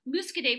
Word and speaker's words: Muscadet: muscade aman and so you know you always pronounce the n or the ending consonant if there's an e at the end so musk a day for short that's a little easier for us